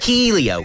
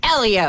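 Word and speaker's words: Hélio: he wins and I like saying his name Helio Helio Helio come on he won the Indy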